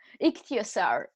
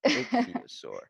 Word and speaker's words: Ichthyosaur: Yeah, Ichthyosaur. Ichthyosaur.